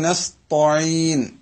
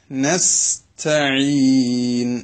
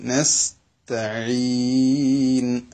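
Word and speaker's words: نستعين: തു അലിഫ് ബ ത, മലയാളത്തിലെ തോ എന്ന് പറയുന്ന ഉച്ചാരണം അറബിയിൽ ഇല്ല. പക്ഷേ ഇവിടെ പലപ്പോഴും നസ് തോയിൻ നസ് തോ താവും പോയി അതോടൊപ്പം അതിന്റെ ഫത്ഹ പോയിട്ട് തോന്നായി തൊലി പോലെ.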